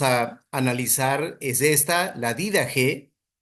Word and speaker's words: Didaje: La primera obra que vamos a analizar es esta, la Dida G. Hay diferentes formas de pronunciar, pero vamos a pronunciar para este curso la didag, es decir, la enseñanza de los 12 apóstoles.